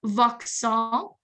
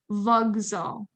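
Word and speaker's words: вокзал: It's not voxal because the Z is voiced. So the K becomes voiced as well. And it's like a vogzal. Sounds like a G.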